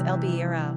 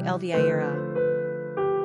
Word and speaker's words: Elvira: We should also mention that the Spanish pronounce this name as el-BEE-rah, while the English say el-VIE-rah.